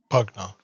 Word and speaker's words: Pugna: And as he would say his name, um, he would say, "Pugna, it's a pleasure."